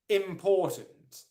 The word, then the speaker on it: important: also ii says ii you're right it is the second syllable where the main stress is poor absolutely right my